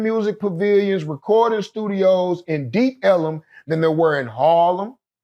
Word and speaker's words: Ellum: In the deep Ellum, it's called Elm because Negroes had a hard time pronouncing Elm Street. So when you go deep down Elm Street, you in the deep ellum.